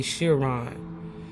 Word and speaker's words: Chiron: Now listen, everybody got their own way of spelling this, because I done heard it pronounced several times. I say Chiron.